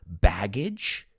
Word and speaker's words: baggage: words with me because a lot of people pronounce them age because logically they end with a g e however it's pronounced like bridge the word puente in spanish so baggage luggage it's a little trick for pronouncing those a g e endings or suffixes suficos and you thought